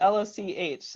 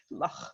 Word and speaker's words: Loch: Okay, and she's going to tell us now how do I pronounce it? Loch. I got to get it right. I've seen some pretty funny Loch. things. Loch.